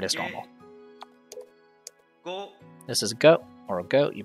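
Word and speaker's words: グ: normal add document marks this is goo or goop you pronounce this as goo like in the word good same thing as before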